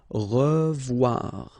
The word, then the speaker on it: revoir: Okay, remember to pronounce this like a revoir. O-E together is pronounced like wawa. Revoir.